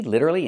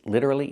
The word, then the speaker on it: literally: Is he literally insane? That's right. He's literally insane. Remember the pronunciation.